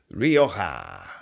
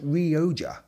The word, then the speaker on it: Rioja: Rioja, sometimes pronounced Rioja, which is also fine.